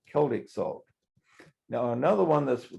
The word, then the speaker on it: Celtic: Celtic, okay. It's pronounced Celtic, even though it's CE, it's pronounced Celtic.